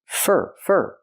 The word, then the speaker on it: for: We hear for pronounced as fur, because it's not a stressed word. For that. Not for that, but fur.